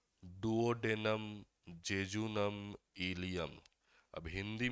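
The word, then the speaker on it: duodenum: एक मैंने कहा डुओडेनम, डिओडेनम, डुओडेनम, अलग अलग प्रकार से प्रोनाउंसिएशन जो है वो आपका होता है। ठीक है। तो आप सरल प्रोनाउंसिएशन याद रखो, इसको क्या कहा जाएगा, डुओडेनम।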